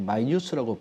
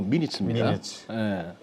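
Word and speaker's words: minutes: 뭐 tmi 분위기는 납니다만 이거 가끔씩 마이뉴스라고 발음하시는 분들 계시더라고요 이거 미니칩니다 이게 이제 스텝 이코노믹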